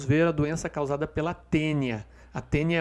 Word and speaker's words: tênia: Ambas as duas doenças são causadas pelo plateuminto tênia. Tá? Se escreve taênia, tá? Mas a gente diz tênia.